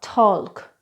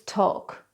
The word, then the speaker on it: talk: Okay let's talk about the silent L ...notice I said there let's talk about the silent L I didn't say TALK. This is one of the most mispronounced L sounds in the English language (for ESL learners anyway) so let's go through those words talk walk chalk it's not talk it's talk it's not walk it's walk it's not chalk it's chalk.